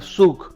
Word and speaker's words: Zug: de esos cantones hay uno que se llama suc se escribe zug es el cantón de